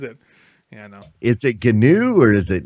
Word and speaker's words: GNU: So actually, it's hard G for both gnome, gnome, and Mm. GNU. They want the hard G because it stands for GNU, of course, and that's the recursive joke of various open source fame.